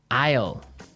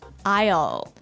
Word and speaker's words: aisle: our second word now Isle Isle a i s l e Isle Isle it's a tricky word it sounds like the contraction of I will yeah but it's spelled